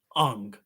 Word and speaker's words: Aang: changed was the prime the pronunciation of uh Aang you know it was now Ong and even back then